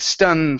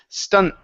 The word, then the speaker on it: stunt: the T okay so you said stun for okay and stun is a whole another word so instead of stun it is stunt stunt so it's going to be a quick ending stunt okay so a new stunt